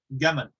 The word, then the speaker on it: جمل: in English from Jamal, because in Egyptian Arabic, it's pronounced gaman. They pronounce the jim like a G, like a hard G. And so when the British came and colonized Egypt, they heard gamal, gamal.